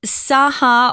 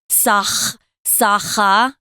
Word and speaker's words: Sakha: So it's right there in the middle of Siberia, and it's the capital of the Saha, or I've heard it pronounced Sakha in Russian, or Saka, sometimes people say in English.